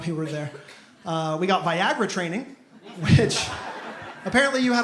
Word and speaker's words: Viagra: how to pronounce it she kept calling it by jeera through the whole thing she was like by Gina is gonna be covered for this and by Gira's not covered for that and I I finally had to correct I was like hey just so you know it's actually pronounced viagra she got so in